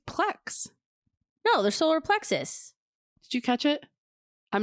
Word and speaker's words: solar plexus: Solar plexus. So it is us. Plex us. There's a US on the end.